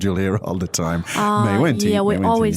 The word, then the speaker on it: 没问题: So, again, the pronunciation is... 没问题，没问题。 Now, 没问题 is something that you hear all the time.